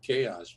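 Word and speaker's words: KaiOS: I just pronounce it chaos, but it's whatever.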